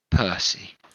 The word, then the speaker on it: Pursey: This man's name is Percy, but it's spelt Pursey.